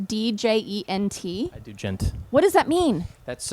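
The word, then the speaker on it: djent: over and over i don't know how to pronounce this do you gent d-j-e-n-t i do gent what does that mean that's uh you know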